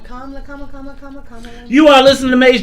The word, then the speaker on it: Kamala: Like Kamala. Your mama love. Kamala.